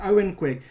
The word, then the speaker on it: Owen Quigg: look it's all fizz so it's spelt like yoghan quick but it's owen quick like look him up